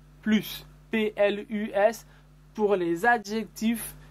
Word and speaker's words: plus: aussi fait attention remarquez on ne prononce pas le s de plus plus pl us pour les